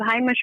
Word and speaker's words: heimish: Is it Heimish or Hamish? There's 2 different types. If you Hamish, go away. If you Heimish, I know what you're talking about. I don't say Hamish actually.